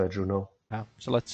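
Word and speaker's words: Juneau: get very close to, um, how do you pronounce it? Juno. It's Juno.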